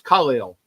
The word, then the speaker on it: Khalil: I I'll even say his name correctly It's Khalil Mack kind of like Superman because it's Khallel, right?